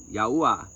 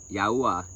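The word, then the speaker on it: Yahuah: Yahuwah. Say his name right. Yahuwah.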